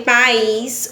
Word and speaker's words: país: Quando eu falei país, o i soou mais forte. Então, o is é uma sílaba tônica, tá certo?